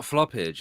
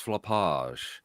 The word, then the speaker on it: floppage: It's not floppage. It's floppage. Have some culture about yourselves. Come on. Maximum floppage. Rhymes with frottage. Oh, Nigel Farage, garage, floppage.